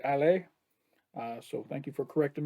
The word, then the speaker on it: Ale: pronouncing ali's voice wrong i've been calling her ally and it's actually ale so thank you for